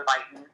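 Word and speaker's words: Beighton: diagnose generalized joint hypermobility clinically is uh the biten criteria um that's spelled b e i g h t o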